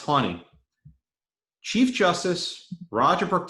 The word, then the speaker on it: Taney: Tawney, exactly right. Tawney. Yep, close enough. Yeah, it's pronounced Tawney. Chief Justice Roger Burke Tawney, who is not a